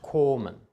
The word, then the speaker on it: kommen: kurz und geschlossen ausgesprochen es ist also kommen kommen es ist nicht kommen oder koma es ist kommen ein geschlossenes kurzes vor einem doppel konsonanten oder essen nicht